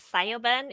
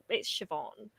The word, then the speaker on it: Siobhan: Like Sayoben is one that I have never heard of, and it's Siobhan.